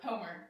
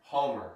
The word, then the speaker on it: Hommer: How do I pronounce it? Is it Dr. Hommer? Homer. Homer.